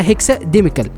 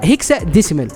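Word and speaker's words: hexadecimal: وبعد كده هتروح على الريجستري، هتدوس دبل كليك وبعد كده تتاكد ان هي على هيكسا ديميكال. تمام. لا، هيكسا ديسيمال، انا مش عارف نطقها لي كده.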